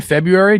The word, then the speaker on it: February: It's that the R in February does not need to be like enunciated.